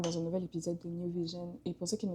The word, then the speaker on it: NyouVision: Et le New de Newdan, c'est ce que j'ai pris pour faire New Vision. Donc c'est N-Y-O-U et non pas N-E-W. Et du coup, ça fait New Vision, comme le jeu de mots en anglais, Nouvelle Vision.